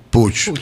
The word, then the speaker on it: Puig: Se pronuncia, en catalán se pronuncia Puig. Puig.